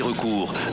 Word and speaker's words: recours: leur en coûtera 12 dernier recours avec un s à la fin de recours qui se prononcent pas on y aura une